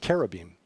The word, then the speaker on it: cherubim: got this idea that cherubim actually pronounced Kara beam are these chubby little